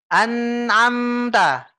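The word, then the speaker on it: أنعمت: Nah, membaca an'amta nggak boleh gini, Pak, bacanya. An'amta. Nggak boleh dipisah-pisah, Pak. Oh, iya. Tapi harus Jadi kita gabung, Pak. ya? Dengan cara kita tekan gini, seolah-olah kita tekan.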